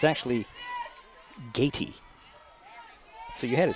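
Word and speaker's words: Gaty: And it's actually Gatey.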